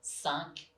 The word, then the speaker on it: cinq: The third one is the sound un, quite nasal, as in cinq and vingt.